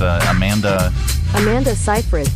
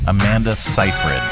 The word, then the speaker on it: Amanda Seyfried: How do you pronounce her name? It's Amanda Seyfried. Amanda Seyfried.